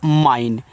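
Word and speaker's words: mine: यहां आगे देखते हैं एम आई एन ई देखो इसको पढ़ते हैं माइन तो देखो ए आई एन ई को आइन पढ़ते हैं हमने आपको बताया बताया था ना किनको-किनको याद है कमेंट करके बताना। तो ए आपका एम लग गया तो माइन पढ़ दो तो आपका यहां पे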